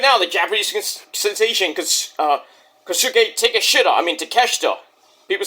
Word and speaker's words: Takeshita: Even now, the Japanese sensation, Kosuke Takeshita. People say take a shit up, because it sounds and looks like take a shit up.